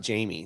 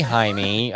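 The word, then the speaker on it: Jaime: don't know the name it's j a i m e so that's not Jamie that's no it's Jamie was ha no oh then I've been pronouncing a co-worker's name it could be haime had a very good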